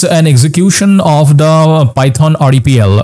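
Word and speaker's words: REPL: execution of the python rdpl or Ripple as it's uh pronounced so python rdpl is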